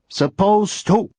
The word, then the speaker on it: supposed to: There's no D sound when you say me. There's just a T sound. T. Supposed to. You're not supposed to pronounce the D.